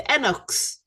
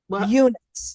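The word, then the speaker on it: eunuchs: The Enox. Did I pronounce that right? They were right. Unix.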